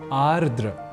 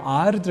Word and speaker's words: आर्द्र: अन्विति कुछ भीगा तो यहां आर्द या आद्र के क्रम में हमने देखा कि हम एक र इस अक्षर को हटा देने का काम उच्चारण और लेखन के समय कर रहे होते हैं बल्कि ऐसा करना होता नहीं है इसलिए आर्द्र यह शब्द ही सर्वथा शुद्ध शब्द है यहां एक बात यह